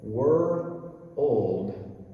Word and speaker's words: world: lot of brazilian trouble were old were old how can you combine those well i i heard somebody say you think of two different words the word word and the word old and if i can